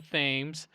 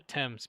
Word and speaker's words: Thames: And even though it's spelled Thames, if you go and call it the Thames, Londoners will get upset with you. You have to call it the Thames because they're very uppity about that kind of stuff.